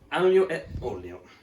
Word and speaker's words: aglio e olio: Yes, so today we are making aglio e olio. That's how you pronounce it.